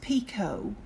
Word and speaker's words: picot: in the comment section is pico and that is spelled p-i-c-o-t that's Pico p i c o t so there I've spelled